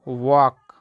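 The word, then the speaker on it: walk: इसको पढ़ते हैं दोस्तों वॉक यहां पे एल साइलेंट होता है इसको पढ़ते हैं गगन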